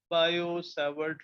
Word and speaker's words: Biot-Savart: Similarly, to find the magnetic field due to current carrying wire, we have another experimental law called as Biot-Savart. T is silent. Biot-Savart law.